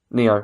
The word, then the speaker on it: NieR: Is it Nier? I'm never sure. It's Neo, okay, because this is why Sean was here, because he's better at pronouncing these.